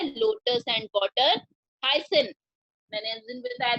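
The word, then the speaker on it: hyacinth: तो ये जो है लोटस एंड वाटर हाइसिन, मैंने उस दिन बताया था ए साइलेंट है, हाइसिन, CINT, सिन, are some plants that grow in water.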